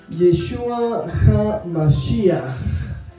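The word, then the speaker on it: ישוע המשיח: Básicamente, Jesucristo se pronuncia en hebreo Yeshua HaMashiach. Por favor, no es Yeshua, no es Yesu.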